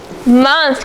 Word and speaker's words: month: It's spelled with an O, so everybody write month on side 2. And circle your O, spelling for the sound.